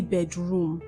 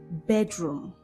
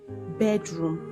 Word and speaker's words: bedroom: Whenever you have two syllables, compound nouns, the stress is often placed on the first syllable and not on the second syllable. So when you say bedroom, you have placed the stress on the second syllable.